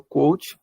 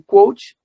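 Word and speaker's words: Kvothe: Eu falo Quoth porque a pronúncia dos nomes desse universo ela é livre.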